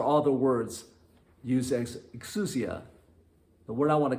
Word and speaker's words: exousia: word used here is a greek word which i hope is pronounced right as x excu exousia e-x-o-u-s-i-a exousia and it means